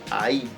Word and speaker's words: ahí: Y por último tenemos el ahí, ahí, con acento en la i.